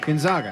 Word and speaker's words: Gonzaga: his live read no he said it right gonzaga he said it right it goes zogs i